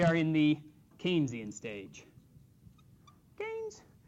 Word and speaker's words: Keynes: in the Keynesian stage canes and and I know it's spelled ke but canes with an A and as GDP Grows